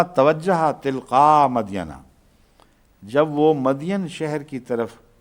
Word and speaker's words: مدین: تلقاء مدینہ، جب وہ مدین شہر کی طرف، قرآن کریم اس کو مدین ہی لکھتا ہے، اس لیے میں بھی مدین ہی پڑھتا ہوں، مگر بائبل میں اس کا تلفظ مدین یا مدیان آتا ہے۔ جب وہ مدین